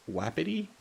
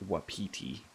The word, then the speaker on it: wapiti: that mentions with PT they were calling it wapity and that doesn't seem right I'm pretty sure that word is pronounced Wapiti no up we get Henry